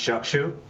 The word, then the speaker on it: Joshua: did an amazing job it is pronounced Joshua and I always say if you have difficulty pronouncing it just combine the words chuck with a shoe and there you got it all right got